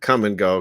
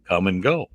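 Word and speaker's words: Kum & Go: that was huge called come and go that is so funny and it's spelled k-u-m and go well i don't think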